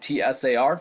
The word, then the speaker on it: tsar: Sometimes that's spelled T-S-A-R, Tsar. Sometimes it's C-Z-A-R. I usually pronounce it Tsar.